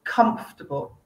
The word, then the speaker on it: comfortable: tricky and this word it's the first syllable comfortable comfortable okay like come here that sound comfortable okay can you